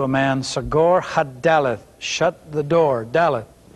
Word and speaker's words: Daleth: alphabet is the letter Daleth and you will find this information on pages 15 and 16 in your Hebrew workbook the Daleth spelled da l e th Daleth the meaning of this